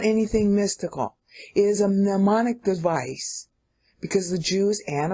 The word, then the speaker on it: mnemonic: It's a mnemonic. Mnemonic. That's a better pronunciation.